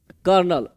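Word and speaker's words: colonel: है तब मिलाना है इसको क्या बोलते बोलते कनल बोलते है कर्नल सीओ एल ओ एन एल कर्नल अब मिलाइए सीओ तो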